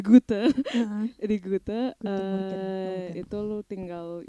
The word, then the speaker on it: Goethe: Lo tes les di Hute, aduh kok dapat pronunciation gue bahasa Belanda, di Goethe.